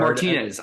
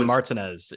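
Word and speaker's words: Martínez: I asked my Martinez. Girlfriend. Yeah. She's like, no, Martinez. Yeah. She's like, no, it's Martinez. Like the accent isn't there. It doesn't make any sense. It's Martinez. No one says that. Yeah. And that's how I would pronounce it also.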